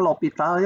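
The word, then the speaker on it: L'Hôpital: Ini bacanya L'Hopital ya, nulisnya ada yang ini, ada yang ini.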